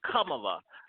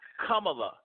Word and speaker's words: Kamala: it we blue and her real name is kamala come allah say her name right come allah how appropriate it's not Kamala that's what we'd like it to sound like it's come along and I I wish